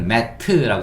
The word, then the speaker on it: mat: 우리는 mat라고 쓰지만, 예, 영어 발음할 때는 mat. 트 소리는 약하게 mat 이렇게 하시면 돼요.